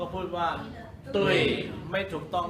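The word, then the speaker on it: 对: ฮะ คำ ที่ 3 อ่าน ว่า ตุ้ย ตุ้ย ตุ้ย ตุ้ย แปล ว่า ถูก ต้อง ถูก ต้อง ตุย ถูก ต้อง มั้ย ก็ ไม่ ใช่ ตุ๋ย ถูก ต้อง มั้ย พูด ว่า อะไร นะ ตุ้ ตุ้ย มา ถูก ต้อง ก็ พูด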